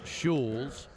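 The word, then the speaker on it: Schulz: Brett shules s c h u l z pronounced shes 621 180lb right-hander from the University of Minnesota and a seventh round choice of the Phillies in 29 19 shes in double A and AAA last season mostly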